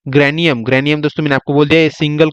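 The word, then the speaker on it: grana: bunch को बोलेंगे हम ग्रेना क्या बोल देंगे ग्रेना जी आर ए एन ए ग्राना बोलते हैं ठीक है थोड़ा दोस्तों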